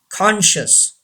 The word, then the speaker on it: conscious: Number 3, conscious. Say this word. Conscious. C is silent. Conscious.